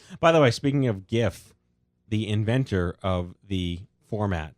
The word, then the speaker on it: GIF: no sense of course it's not like a giraffe ik it's a graphic so it's a hard G yeah nope I will